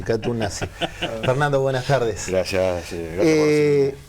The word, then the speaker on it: Katoen Natie: Un gusto recibir en buscadores a Fernando Correa, gerente de relaciones institucionales de Catón Nasí. Lo pronuncié bien. Katú nazi. Katú nazi.